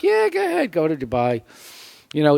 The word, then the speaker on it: Dubai: go ahead go to Dubai you know it rhymes with Shanghai so you might as